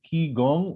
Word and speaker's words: qigong: the context of something called ki gong or pronounced qigong and the only thing